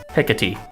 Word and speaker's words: Hekate: So we will first be talking about Hekate. That is how you pronounce her name, I'm pretty sure. I looked it up.